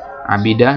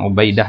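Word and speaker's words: عبيدة: Abidah di sini ya, bacanya begitu ya, bukan Ubaidah ya. Ini bacanya Abidah, Abidah ibnu Amr.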